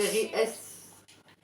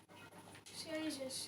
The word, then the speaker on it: Xbox Series S: Série S. Series S, c'est comme ça que moi je... C'est comme ça que Microsoft le prononce. C'est une série, donc il n'y a pas de S à la fin.